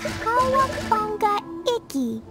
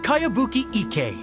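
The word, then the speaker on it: Kayabuki Ikkei: By Kawabunga Iki. Yomiha, this is a really strange name. Who's this Kawabunga? It's pronounced Kayabuki Ike.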